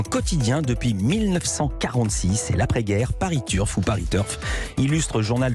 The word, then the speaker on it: Paris Turf: j'ai bien compris mais je ne savais pas ça se prononcer à la française dans la landaise paris turf je me tiens donc